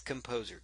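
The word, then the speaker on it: KompoZer: that we will be using in fact it's spelled with a Z not an X that is composer kom poz er and it is a free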